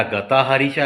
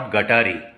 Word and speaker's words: गताहारी: पोहोचवा की अरे बाबांनो इट्स नॉट गटारी त्याचा प्रोनन्सिएशन गताहारी गत अधिक आहारी तुमच्या आहारामध्ये वैज्ञानिक दृष्टिकोनातन